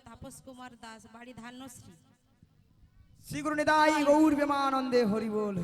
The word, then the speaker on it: শ্রী: আরে মাসি উনার নাম ছিড়ি ছিড়ি নয় বলো শ্রী শ্রী শ্রী শ্রী শ্রী শ্রী শ্রী যেন সারে